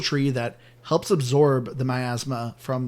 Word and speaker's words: miasma: called the miasma well in the game they call it miasma but I always pronouncing my asthma so me too asthma